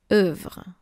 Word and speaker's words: œuvre: A ligature is when you have two letters that are forming only one. And here we have the O and the E. Make sure to pronounce œuvre.